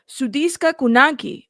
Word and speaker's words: Sudiksha Konanki: Sudiksha Konanki. Okay, here we go. was last seen on security camera footage around Konanki was last seen on Hold up. with the Dominican Republic. A 20-year-old Sudiksha Konanki was Sudiksha Konanki.